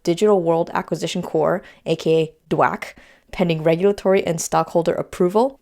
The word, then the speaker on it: DWAC: by joining with digital world acquisition core aka dwack pending regulatory and stockholder approval dwac is a